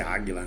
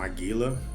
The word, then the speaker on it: Águila: Então, o nosso cotidiano era dessa calle Águila, acho que a pronúncia é Águila, não Aguila, né?